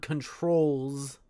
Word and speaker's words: controls: It's probably Z because the word controls ends with a, even though it's spelt with an S, it ends with the Z noise.